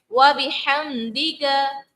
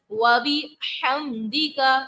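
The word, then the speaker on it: وبحمدك: پھر اس کے بعد لفظ ہے وَبِحَمْدِكَ. وَبِحَمْدِكَ تلفظ کی ادائیگی درست طریقے سے کریں گے. ہا کو ہم حلق کے جو ہے درمیان والے حصے سے ادا کریں گے، کیونکہ عین اور ہا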